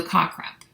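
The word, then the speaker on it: CACREP: quiz question is c-a-c-r-e-p so car crap some people pronounce it differently it's a little it's a little awkward to say but that is the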